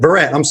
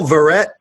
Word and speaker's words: Verret: Okay, so Michael Verret, Verret, not Verret. He literally just told me how to say his name, and I quite all right.